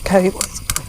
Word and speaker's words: Cawood: Cawood left, which some people might think is pronounced Cawood or something, but it isn't, it's Cawood.